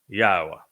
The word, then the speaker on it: Yahowah: you emphatically that God has but one name and it is pronounced yaha and I have proven